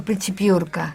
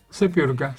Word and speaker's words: Sepiurka: Piurka. No, Sepiurka. Sepiurka. ¿No?